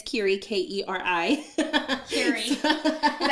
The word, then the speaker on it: Keri: So, and then you can just find me on Instagram for Keri_, and it's Keri, Keri. Keri. Is that how you pronounce it?